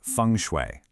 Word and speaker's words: feng shui: It's pronounced fune.